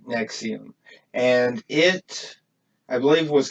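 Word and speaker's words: NXIVM: It actually the name's pronounced Nexium, but it's NXVIM. It's Roman numerals, but when you say it, it's like Nexium, and it, I believe,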